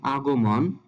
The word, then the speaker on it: আগমন: হবে অভিনন্দন আমরা পড়ি আগমন আমরা একটা কথা খেয়াল রাখবো যেখানে আমরা মন দেখবো মন মন শব্দটার উচ্চারিত হবে মন যেমন এখানে আগো মন আছে এখানে সঠিক উচ্চারণটি হবে আগো মন যেখানে মন থাকবে সেখানে